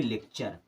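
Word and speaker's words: lecture: हो गया चर अब एल ई से क्या हो जाएगा ले क्या होगा लेख अब इसे पढ़ेंगे लेक्चर क्या पढ़ेंगे लेक्चर यानी कि टी यू आर ई अगर किसी भी वर्ड के लास्ट में आ रहा है हमेशा उसको आपको पढ़ना है चर की तरह कुछ और भी वर्ड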